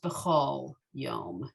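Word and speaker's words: בכל יום: yom it's usually pronounced behol yom and that's a pronunciation variance right that's the the front of the book tells you that this is this is often more of an oh than ah but you did beautifully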